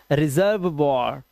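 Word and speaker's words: reservoir: ठीक है, रेपर्टवॉर, रेपर्टवॉर और लास्ट का ई silent, रेपर्टवॉर। This is रिजर्व वॉर, रिजर्व वॉर।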